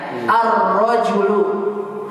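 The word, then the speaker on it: الرجل: Ar-rojulu. Antum dengar ada alnya? Pasti antum akan menyangka gini tulisannya. Ar-rojulu. Begitu kan? Tidak ada apanya? Tidak ada lamnya.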